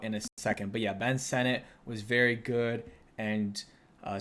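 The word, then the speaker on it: Ben Sinnott: be talking about in a second but yeah Ben Senate was very good and uh some people are like why are you pronouncing it Ben Senate he says that's how you pronounce it so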